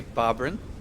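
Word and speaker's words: Bobryn: do more complex science here's how you say bobberyn oh you spell it out for b-o-b-r-y-n all right so also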